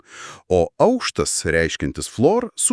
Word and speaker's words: aukštas: For example, "aukštas" meaning "high" - pronounced with falling pitch accent (acute). And "aukštas" meaning "floor" - with rising (circumflex).